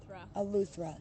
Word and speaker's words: Eleuthera: Eleuthera, that's how you say it.